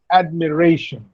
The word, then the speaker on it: admiration: Look at this word admiration. Yes, or application or combination. Look here. There are, how many syllables are there in admiration? Ad, me, re, shun. 1, 2, 3, 4.